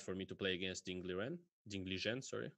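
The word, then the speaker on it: Ding Liren: me to play against Ding Li Zhen, which is the right way to pronounce his name.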